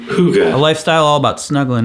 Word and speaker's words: hygge: Hygge. Thank you, Google pronunciation. Hygge.